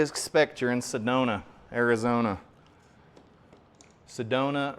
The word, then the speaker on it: Sedona: Sedona rhymes with Arizona.